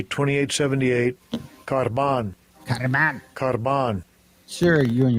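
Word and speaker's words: κορβᾶν: This is how they pronounce it. Strong's G 2878. Karban.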